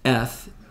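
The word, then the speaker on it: את: These two Hebrew letters are the Aleph and the Tav, pronounced Eth in this book.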